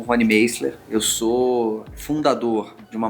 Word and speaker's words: Meisler: Eu falei Rony Meisler. Tudo bem, mas você sabe que essa é a pronúncia.